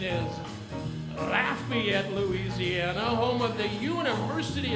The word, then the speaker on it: Lafayette: there is no such town in Louisiana called Lafayette and there is no institution of higher education called the University of Louisiana Lafayette the correct pronunciation is Lafayette Louisiana Home of the University of Louisiana Lafayette